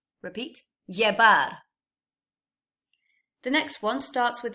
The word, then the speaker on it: llevar: So the proper way to pronounce this, break it down. You've got two L's, the y, e, the V is a B, and then ar. So llevar. Repeat, llevar.